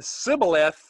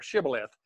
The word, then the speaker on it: shibboleth: what i mean because you can pronounce it either way but that's that's kind